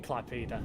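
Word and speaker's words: Klaipėda: Are we saying it wrong, Almantis? I wouldn't have the foggiest if we are. I just read things how it says it is. Well, yeah. That's usually correct 9 times out of 10, so... Oh. I know part of the platform was gone. He says yes, so we are pronouncing it correctly.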